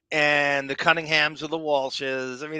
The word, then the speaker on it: Walsh: She's Godspeed Brenda Walsh, because no, if anybody can beat it, you can. You said it wrong. It's Brenda Wash. That's how she would pronounce it. She doesn't pronounce the L?